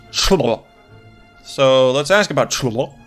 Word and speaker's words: Cholmondeley: Cholmondeley is apparently just pronounced Chlo.